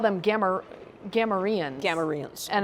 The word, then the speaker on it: Gamorrean: Gamorreans. And it's like Gamorrean, apparently. But no, in my head... I just pronounce it Gamorrean. I don't know whether anybody else does. Exactly. No, Gamorrean is correct.